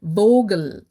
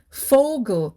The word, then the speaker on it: Vogel: fou so will saying fogel which means bird in german we don't say vogel with a v but instead we pronounce it as fogle with an f so having an indian